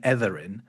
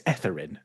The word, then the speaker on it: Etherin: been mispronouncing your name, because I have been using the voiced version of the th sound. I was saying Etherin, yeah, yeah, but I realized that you say it's Etherin, and yeah.